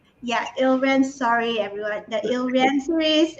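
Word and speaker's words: Ile-Rien: books of the rakshura series The I can't pronounce this uh elrion yeah ilren sorry everyone the hill rancories and several other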